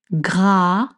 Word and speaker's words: gras: Sucré gras gras. Gra with the gr sound.